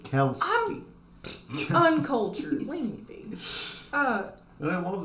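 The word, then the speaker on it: Kelske: Bobby Kelsky. That's how you say it. Kelsky.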